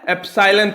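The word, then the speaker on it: epsilon: Ireland है मैं इसको क्या पढ़ा जाता है एप्स साइलेंट पढ़ा जाता है यह ग्रीक लैटर ना अपने पड़े होंगे फिजिक्स में ऐप साइलेंट यह रिक्वेस्ट करें मैं ग्रीक लेटर लेटर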